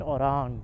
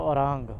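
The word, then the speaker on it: Orang: बी आर O welcomes you इन ओरांग। तो spelling क्या है? ओ आर ए एन जी तो ये बन गया ओरांग। और अगर हम लास्ट में इ और लगा देते तो यह बन जाता ऑरेंज।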